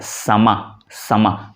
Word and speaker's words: समा: लेकिन जो अरबी का शब्द है समा, दोनों ये स्पेलिंग का थोड़ा सा फर्क है, समा समा, यानी लास्ट अ का थोड़ा सा उच्चारण आता है, लेकिन हिंदी में हम उसको समा कह देते हैं, उसमें कोई प्रॉब्लम नहीं है।